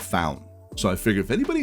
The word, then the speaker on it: Faun: I've I'm forcing you to watch so the pronunciation I just want to make sure it's called found found and the reason I know that is